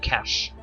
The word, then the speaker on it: cache: Maybe I have to empty my cache or something. Or cache. That's how you say it.